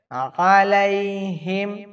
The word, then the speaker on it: আলাইহিম: আইনের উচ্চারণ সব জায়গায় শক্ত করে বলতে হবে, আলাইহিম।